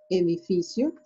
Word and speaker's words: edificio: En la rama azul oscuro, edificio, edificio. Recordando que cuando la C se encuentra a un lado de la vocal I o de la vocal E, se pronuncia como che.